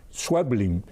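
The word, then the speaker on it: Schweblin: Se debe pronunciar swebling, pero pero porque el apellido, fíjense ustedes, tiene una, dos, tres, cuatro consonantes antes de la llegar a la primera vocal. S c hw e blin.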